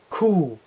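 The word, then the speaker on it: Ku: one is cool yes just like a cow in German so I will say mmm c oo to get that sound cool this one I'll stop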